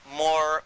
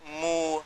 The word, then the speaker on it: Moor: What connects it up is even the word Moor, because it's pronounced differently in different parts of even of Africa. And they call themselves Moor, Mu, Mur.